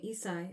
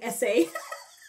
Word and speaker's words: Essai: Oh, that's how you say his name, Essai. Okay. I was saying Essay in my head.